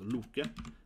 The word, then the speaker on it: Loke: Loke, this is how you actually spell Loki, and pronounce Loke.